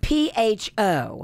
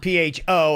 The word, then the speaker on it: pho: It's P-H-O. P-H-O, and my family pronounces it pho, but apparently that's the wrong way to pronounce it. It's pho.